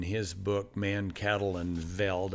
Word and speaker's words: Veld: Johann Zeitzman, in his book, Man, Cattle, and Veld, I think you're supposed to pronounce the V as an F, but that means grass.